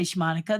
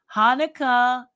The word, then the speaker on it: Hanukkah: in um yes look at Bob's doing his Hanukkah shmonica to everyone who's Jewish Merry Christmas to everyone who's uh is that I didn't say shmonica that's wrong how do I say that Hanukkah it looks like shma anyway to everyone who's